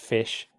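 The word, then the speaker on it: ghoti: Goty pronounced fish. Uh F like laugh. I like women. And sh like action."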